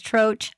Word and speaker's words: Troch: She says Troch, I say Troch, but it sounds too much like crotch.